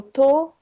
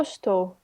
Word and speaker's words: estou: In a informal conversation, okay, you will often hear eu tô. Okay. Não, eu estou. Eu estou. Sim. Eu estou, tu estás, ela tá. Okay, so we drop the first syllable.